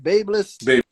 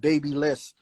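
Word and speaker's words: BaByliss: Babeless. Babeless. Yeah. Okay. Because for like a year straight, I called it babyless, but I'm stepping out of my zone.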